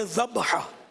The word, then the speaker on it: ذبح: ذبح لفظ جو ہے نا, ذبح مانے جو جانور ذبح ہوا, اور وہ جو جس کو ہم ذبح بولتے ہیں نا, یہ ذبح نہیں ہے, یہ ذبح اصل تلفظ ہے, ذبح.